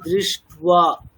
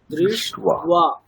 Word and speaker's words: दृष्ट्वा: আচ্ছা যুক্তাক্ষরের উচ্চারণ কিন্তু একেবারেই স্পষ্ট হচ্ছে না, মানে দৃষ্ট্বা, মানে মূর্ধন্য শয়টাই ব আছে, বয় আকার, তাহলে উচ্চারণটা হবে দৃষ্ট্বা, দৃষ্ট্বা এরকম।